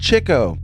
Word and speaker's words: Chico: producer is daniel d'amico i know you marx brothers fans are cringing his name is pronounced chico well you rhyme d'amico